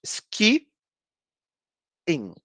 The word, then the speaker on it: skiing: E aqui a gente tem dois is e a gente vai pronunciar os dois is. Então, são duas sílabas. Ski, in. Ok?